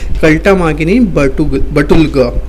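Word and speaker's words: Халтмаагийн Баттулга: आपको अगर नाम यहाँ पर प्रोनाउंस करना है तो आप क्या नाम प्रोनाउंस करोगे, कल्टामागिनी बटुलगा, ठीक है।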